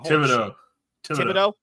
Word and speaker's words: Thibodeau: How do you pronounce his fucking last name? Thibodeau.